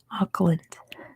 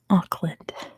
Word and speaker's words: Auckland: Do we pronounce Oakland the same as Auckland? There, you can hear it. It's slightly different. Oakland, Auckland. Oakland, Auckland. Slightly different.